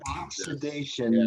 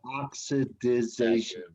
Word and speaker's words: oxidation: Oxidation, not oxidization. You're adding an extra syllable in there. So just say oxidation.